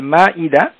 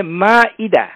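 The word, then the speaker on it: المائدة: প্রশ্ন উত্তরে চলে যাব এই যেটি সূরা আল মায়েদা এখানে আমাদের সবার অবগতির জন্য জানাচ্ছি আমরা সবাই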